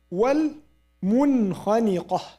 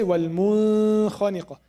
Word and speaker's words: والمنخنقة: الخاء, we said at the end, والمنخنقة. We don't say والمنخنقة. We don't say والمنخنقة. It's والمنخنقة والموقوذة.